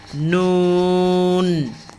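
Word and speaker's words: ن: তারপর হলো নুন, এগুলো নাকের ভিতরে হালকা একটু লুকাবে, নুন।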